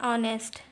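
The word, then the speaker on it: honest: an umbrella N इल वर्स beginning with a silent H जसं की पहा एन आर N owner N N year N एयर लोलम एन ऑनेस्ट N honourable man fourth rule is अ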